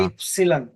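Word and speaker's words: Ypsilon: আর এটাকে বলা হয় ওয়াইটা হবে ইপসিলন, ইপসিলন, ইপ, ইপসিলন। ইপসিলন, ইপসিলন।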